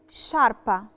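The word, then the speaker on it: sciarpa: شاربة، شاربة اللي هو سكارف أو إشارب، نطقناها شاربة علشان الأس أو لترا أس جت قبل لترا تشي، فبقيت الحرف بقى اسمه ش، فبقت شاربة. نفس القاعدة، عشان في أس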